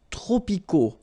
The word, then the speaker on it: tropicaux: Les climats tropicaux. Final X not pronounced.